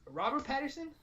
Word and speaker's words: Robert Pattinson: Robert Pattinson.